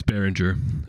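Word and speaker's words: Beringer: the woods in California do we pronounce it the same yeah it's the same it's baringer although absolutely no relation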